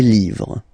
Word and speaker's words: livres: write livre, and then you put S at the end, but then you don't pronounce it. Les livres, le livre, les livres.